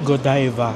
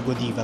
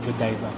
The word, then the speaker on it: Godiva: Godiva or Godiva? Mm. It's Godiva. Gooda. Ah ba yun? Hindi pala goodiva. Good diva. Yun pala yung tamang pronunciation.